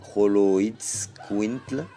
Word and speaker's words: Xoloitzcuintli: Donc le nom Xoloitzcuintle vient du nahuatl et Xoloitzcuintli, singulier, prononcé Xoloitzcuintle, Xoloitzcuintli.